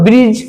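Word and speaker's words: bridge: তারপরে দেখো ব্রিজ ব্রিজ মানে আমরা জানি প্রত্যেকে সেতু ব্রিজ ব্রিজ দেখো এখানে কিন্তু ডি উচ্চারিত হচ্ছে না।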